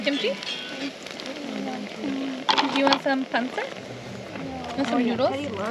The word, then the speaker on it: pancit: It's a pancit. With the B. Pancit.